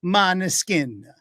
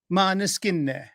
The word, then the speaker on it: Måneskin: Måneskin. Måneskin. Right? Am I close, Federica? No, she's backstage going, oh, I got 2 thumbs up. That's good. But Måneskin.